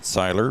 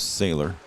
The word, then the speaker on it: Siler: Siler and uh I was told to pronounce it Syler but David wood said it was sailor but coach told me